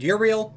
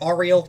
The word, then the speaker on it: Uriel: Michael Mikel if you prefer Raphael Gabriel and Uriel or Ariel depending on your pronunciation and these are going to be the